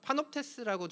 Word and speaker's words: Panoptes: 근데 뭐 사회자분께서도 저한테 저 파놉테스를 어떻게 발음하느냐 물어보셨는데요. 파놉테스라고 저희는 발음을 하고요.